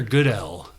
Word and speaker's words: Goodell: Commissioner Goodell.